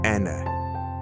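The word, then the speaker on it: enne: N, pronounce Ene.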